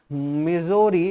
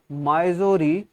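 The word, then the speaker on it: Missouri: सो इसको आप चाहे माइजोरी पढ़ लो या मिजोरी पढ़ लो, क्योंकि इतना कॉन्ट्रडिक्टरी आपके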